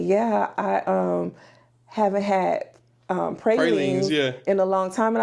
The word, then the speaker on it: pralines: Is pralines or pralines is the way we pronounce it in New Orleans. But if you say pralines, we understand that too,